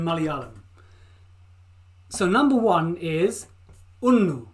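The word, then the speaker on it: ഒന്ന്: to look for a phonetic pronunciation a phonetic pronunciation a sour look so these are the numbers in Malayalam so number one is una una una una see that for me una two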